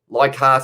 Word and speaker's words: Leichhardt: Leichhardt is how it's pronounced, says Ed.